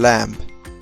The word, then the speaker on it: lamb: Sure, Janvi, like the letter B in climb and lamb.